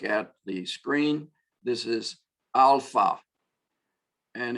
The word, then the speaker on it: alpha: This is alpha, and it's the ah sound, not an eh sound or an a sound as in English sometimes, but ah, a good British ah. Americans say eh sometimes for the A, but we say alpha, alpha, but it is our A sound.